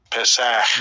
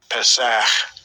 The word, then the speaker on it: Pesach: Pesach. Yeah, it's a short E sound. Pesach.